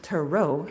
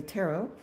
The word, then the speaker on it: tarot: So, the cards is pronounced tarot with the accent on the end. And here, at least in the United States, we say tarot.